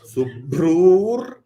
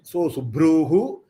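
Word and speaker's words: सुभ्रूर्: Sabravitan, Suran, Subhrur, so Subhruhu becomes Subhrur. The Visarga will change to Ir sound.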